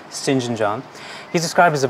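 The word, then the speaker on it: St John: sinjin john rivers uh that's pronounced shinjin an unusual pronunciation but it is shinjin john he's described as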